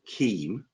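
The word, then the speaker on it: CIEM: do a thing which I'm going to call KEAM, mainly because if I pronounce the C with a softness, it becomes seam, and that leads to a different conversation altogether.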